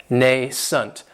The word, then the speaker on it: nascent: adjective is nascent and this word has two syllables and the stress is on that first syllable it has the long a sound nascent that second syllable has that schwa nason and if something is